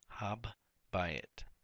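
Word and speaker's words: הַבַּיִת: You have habayit, habbayit. You have two B's. Remember, the dagesh forte produces two B's and a hard sound.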